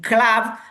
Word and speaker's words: club: Not always, but sometimes it is pronounced like an A, like in difficult, like in club, like in culture.